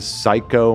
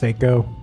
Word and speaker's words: Seiko: It's a psycho mojito. M I'm so sorry that Ethan did that to you. Yeah, it's pronounced Seiko.